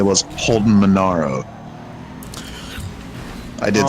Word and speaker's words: Holden Monaro: So what I meant to say was Holden Monaro.